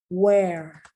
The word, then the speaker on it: where: Once again, the H is silent. Where?